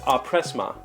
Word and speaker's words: empressement: The word looks like impressment, but it wants to be pronounced appressma.